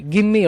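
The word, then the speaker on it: give me: இந்த கிவ் மீ, கிம்மி அப்படின்னு தான் உச்சரிக்கணும்.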